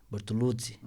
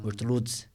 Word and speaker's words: Bortoluzzi: Então, o Z é tzi, Bortoluzzi, Bortoluzzi. Né? Se pronuncia Bortoluzzi.